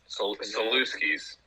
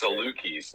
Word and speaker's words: Salukis: How do you pronounce it, Trey? Yeah, it's not the Saluskis. What is it? Saluskis.